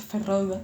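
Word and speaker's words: Feyd-Rautha: de los harcon ferroga que ya sé que se pronuncia ferroga lucha en el ring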